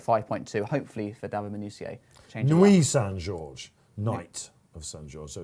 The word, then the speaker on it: Nuit St George: Nuit St George is just about third favourite, 5.2, hopefully for David Minutier. Nuit Saint George, Knight.